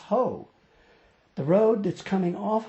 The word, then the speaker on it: Hoh: to the whole rainforest yes it's pronounced hoe the road that's coming